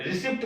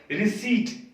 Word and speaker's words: receipt: रिसिप्ट नहीं होता है, रिसिप्ट में पी साइलेंट होता है। तो इसको कैसे बोलेंगे हम? रिसीट। रिसीट इज the correct pronunciation. लिखते हैं हम रिसिप्ट पी के साथ, RECEIPT, बट बोलते हैं रिसीट।